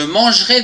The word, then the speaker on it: mangerai: verbe manger demain je mangerai des frites attention ici il y a un peu après le g on ne le prononce pas demain tu mangeras des